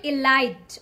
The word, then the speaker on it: elite: About this one, don't call it elite.